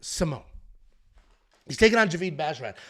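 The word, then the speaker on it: Simón: then we have Ricky Simone I'm going to get this name right it's not Simon it looks like Simon we don't have a Tilda there's no there's no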